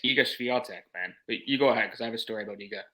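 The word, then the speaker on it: Iga Świątek: she actually fared quite well but just it's egos vial Tech man you go ahead because I have a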